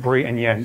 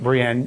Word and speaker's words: Bruienne: go with that um the second one is much easier though because that is just Bri and Yen so papine Brien is how he pronounced my name and um you will